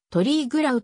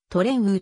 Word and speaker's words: Triglav: 薄いとされる地元の方言では標準的なスロベニア語の発音であるトリーグラウとは異なり名称はトレンウと発音される歴史場初の